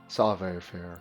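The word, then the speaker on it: Savoir Faire: The French Canadians that I watched that played this pronounced it savair. Savair savair.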